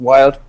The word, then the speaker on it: Wilde: As Nadia already said, like my surname is Wilde in German. I unfortunately failed to convince everybody that I'm meeting that it's pronounced Wilde, but it's another issue.